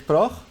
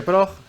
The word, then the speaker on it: PROJ: Los norteamericanos dijeron proch como Dodge. Y algunos incluso empezaron a discutir cómo se pronuncia la O. Y José Luis me contactó y me dijo en privado, no en el chat general, prog como reloj o boj.